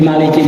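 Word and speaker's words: مالك: ada dua qiraah kan ada yang bacanya Maliki yaumiddin ada yang membacanya juga Maliki yaumidin gitu kan Makanya enggak panjang ada yang panjang Maliki ada yang pendek Maliki yaumidin gitu kan Nah itu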